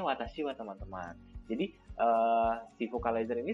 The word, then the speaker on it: 私は: 私は dia langsung membacanya watashi wa teman-teman. Jadi si vocalizer ini sudah paham bahwa wa di situ adalah sebagai partikel. Jadi dibacanya lagi bukan watashi ha, tapi watashi wa.